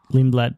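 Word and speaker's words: Lindblad: Lindlad.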